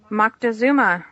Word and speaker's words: Moctezuma: and I'm not going to be able to pronounce his name, so hopefully you'll help us out. Yes, you are. Juan Lopez Moctezuma. Moctezuma, okay.